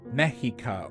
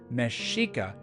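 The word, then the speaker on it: Mexica: and Aran Cortez also these words are not pronounced meika or Tex Coco but rather mesika and Tesh coko some of these words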